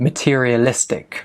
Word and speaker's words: materialistic: Now, pronunciation, materialistic. So stress is on the I, the li. So materialistic. Materialistic.